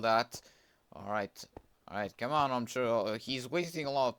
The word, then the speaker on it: Omcho: It's pronounced Omcho, but it's spelled like O-M-C-H-O. Just pronounce Omcho.